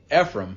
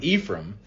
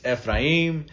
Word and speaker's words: Ephraim: My first name is actually Ephraim, but here it's pronounced Ephraim. So in Spanish, it's Ephraim.